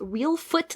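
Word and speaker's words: Reelfoot: way I don't know because it's not spelled like real but it sounds like it's real foot like a real foot not a fake foot you asked what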